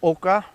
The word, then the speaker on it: oca: we're going to plant our AAS now or it's pronounced Oka so there you know